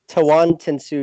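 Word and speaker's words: Tawantinsuyu: I am not going to attempt to pronounce it. No, Tawan is no. It looks like the hardest one. Tawan Tensuyu.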